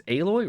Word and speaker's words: Aloy: Aloy, not alloy. It's Aloy.